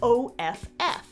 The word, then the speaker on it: off: So the dictionary might show both, like in the word OFF. And you could say it like off, but for once, Mary and I agree, and we both use aw.